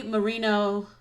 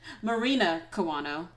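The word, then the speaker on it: Marina Kawano: a reason to come out and the way mourinho i feel like i said her name wrong i'm sorry marina kiwano sorry about that um the way she sings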